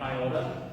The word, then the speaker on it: iota: Iota. The way we're going to pronounce it is iota, with an E sound.